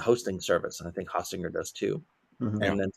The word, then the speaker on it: Hostinger: company called I don't even know how to pronounce it. It's Hostinger.